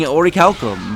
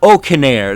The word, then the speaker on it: Olcadan: Oh, is it Orcanair? Is that how you say his name? I was saying Orichalcum, but okay, Orcanair. You can tell Oh, I didn't really care much about the name because I didn't think I would ever unlock him. You lose. So Orcanair, that's how you say his name properly.